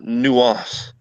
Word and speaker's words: nuance: You actually pronounce it nuance.